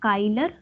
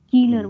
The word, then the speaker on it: Kieler: Die weltweit bekannte Kieler Woche, not Keiler, Kieler Woche. Here it's white, EI, so white. Here it's IE, so Kieler.